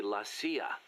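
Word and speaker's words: la CIA: around here they say lasya instead of CIA huh nothing strange about it that's how it's pronounced when you read it in Spanish it has the feminine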